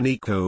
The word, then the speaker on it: Nico: He told everyone he went by Nico with a long E sound at home, but we all just called him Nick.